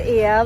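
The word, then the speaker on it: Oia: So obviously it's compulsory to come to Ia, which is spelt O-I-A, while you're in Santorini.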